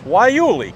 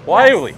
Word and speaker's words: guayule: from the southwest which you've told me to pronounce correctly as wyeoli correctly Wiley all right so now I'm going to go